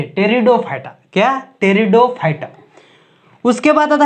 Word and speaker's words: Pteridophyta: एफी क्या है? साइलेंट है। टेरिडोफाइटा।